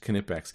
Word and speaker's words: Knipex: Knipex. I do believe it's pronounced Knipex.